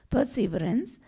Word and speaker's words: perseverance: See, in English, you put all the emphasis on the first syllable. In French, you put all the emphasis on the second syllable. So if you say perseverance, that's a wrong way of reading it in English. It's perseverance.